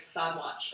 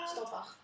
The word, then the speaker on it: Stadwacht: Like stadwatch, I think, is one of that's like Stadwacht.